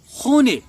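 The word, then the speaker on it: خانه: میں ایسا نہیں ہوتا، اس میں بالکل نوشتار جو رائٹنگ ہے وہ خانے ہوگا لیکن اس کا تلفظ خونے کیا جاتا ہے.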